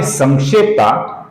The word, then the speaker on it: संक्षेप्ता: तीसरा नाम है संक्षेप्ता, जिसके अनुस्वार का हम न ऐसा उच्चारण करते हैं क्योंकि आगे क्ष आया हुआ है जो क और श से बनता है। क ख ग घ ङ, ये जो ङ अक्षर है इसका उच्चारण हम अनुस्वार की जगह पर करेंगे दोस्तों।